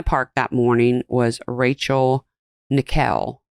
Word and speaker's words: Nickell: Also in the park that morning was Rachel Nickell. It's spelled like nickel, but it's Nickell.